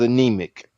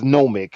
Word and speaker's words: Nomic: He is anemic. And this is nomic. So they they're two different words, James.